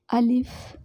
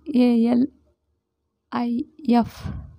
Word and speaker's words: alif: this so this is the arabic first letter alif in english they call a l i f so we have to pronounce like this alif alif yeah so this